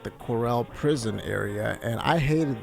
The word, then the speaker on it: Corel: area which it really it sounds wrong to me when they say it like that I used to always think it was Coral but the Corell area and you know I